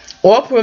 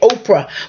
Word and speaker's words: Orpah: the son of Ora Ora I always have a problem pronouncing her name because I want to say Oprah but her name was Ora anyway long story short Goliath